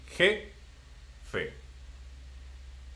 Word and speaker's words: jefe: So, because it ends in a vowel, which is e, so it will be jefe.